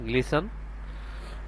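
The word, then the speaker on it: glisten: এখানেও সেম একরকম টির উচ্চারণ আসবে না। এখানে হবে গ্লিসন।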